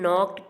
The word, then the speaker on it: knocked: And in knocked, K is the silent letter.